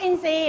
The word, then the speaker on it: อินทรีย์: ทุด โซม หมาย นก อินทรีย์ รู้ จัก ม คะ อ่ะ นก อินทรีย์ เขียน แบบ นี้ นะ คะ ออก เสียง ร เปลี่ยน เป็น เสียง ซ มัทรี อินทรีย์ ร่าง กาย